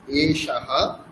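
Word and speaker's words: এষঃ: এশাহা বালকাহা এশাহা বালকাহা এখানে দেখুন মূর্ধস আছে। তাহলে মূর্খা থেকে উচ্চারণ করতে হবে।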